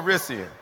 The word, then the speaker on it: Calrissian: I heard an extra syllable. Calrissian. Okay.